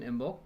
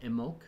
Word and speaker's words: Imbolc: So February will be probably our next celebration, Imbolc. It can be said, some people pronounce it Imbolc without the B.